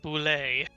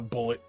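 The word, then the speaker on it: bulette: say them before you know yeah the weirdest pronunciation is the Landshark is called a boulay yeah not a not a bullet not a bullet all right Cara you go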